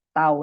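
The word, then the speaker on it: τ: Tau ini dibacanya ya. Momen gaya ini bacanya tau.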